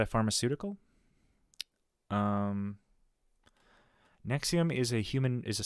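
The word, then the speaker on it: NXIVM: not a pharmaceutical um Nexium is a human is a sex trafficking cult uh started by it's spelled like n X i v m it's like a cute little play on phonetic you know Roman letters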